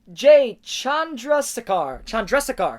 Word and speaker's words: Chandrasekhar: I'm going to pronounce his name right. Jay Chandrasekhar.